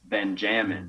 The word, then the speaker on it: Benjamin: um my name is my full name is benjamin but it's pronounced by my family as ben jammin ben yeah when